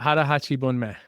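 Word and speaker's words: 腹八分目: There's a Japanese term for it, and I know that you pronounce it really well, and I don't. So Yeah, it's hara hachi bunme.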